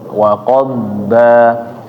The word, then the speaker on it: وقضبا: Nah, jadi ketika membaca nih ya, waqad, lidah ini seperti kayak bergerak ke arah depan, waqad ba gitu.